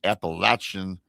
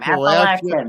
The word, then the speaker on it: Appalachian: Surrounded by the dense Appalachian Is it Appalachian or Appalachia? How do you say that? You said it right the first time. Appalachian Appalachian forest.